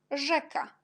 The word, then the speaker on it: rzeka: Et quand j'ai déjà marqué Z avec petit point, jet, on prononce J, et RZ, on prononce aussi J. Par exemple, żaba, rzeka.